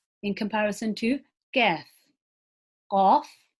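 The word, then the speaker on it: ك: So look at how I say qaf in comparison to kaf. Qaf, kaf.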